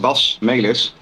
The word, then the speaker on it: Basmelis: Basmelis is my real name, so it's pronounced Basmelis. Most English pronunciations get the malice wrong, but that's all right.